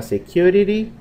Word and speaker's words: security: Si usted dijera security, también se entiende, ¿ok? Y observemos que la letra T en realidad suena como R. Y decimos security.